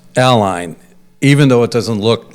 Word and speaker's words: Allyn: But it's technically pronounced Ally. It is. It is. as if there was an I in there or Well, even that's not even clear.